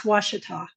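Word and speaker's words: Ouachita: weather person because they will always call it Uachita. It's Washita.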